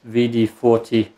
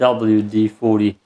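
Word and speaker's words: WD-40: Or is it VD40? Gotta be VD40. No, it's not V. It's WD40. God damn. That's how you pronounce it.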